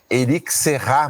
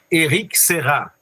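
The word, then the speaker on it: Éric Serra: Eu chamo e Erique Serrar, mas não é assim. Henrique Serrá.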